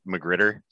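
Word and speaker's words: magrittr: pronouncing the terminology properly all right so i can't do a proper french accent it's named after the french uh painter marguerite so um i just say magritter okay and it's if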